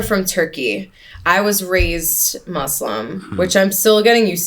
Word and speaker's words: Muslim: still getting used to saying it with an s m I always said muslim you also say it with like a a I don't know like a rounded you like instead of mus